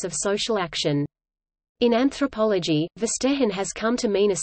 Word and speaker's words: Verstehen: Verstehen, German pronunciation, F-T-E-N, literally, to understand, in the context